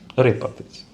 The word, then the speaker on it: рипатись: Рипатись. Я з тими вашими наголосами. То у нас простіша майже завжди на передостантній склад.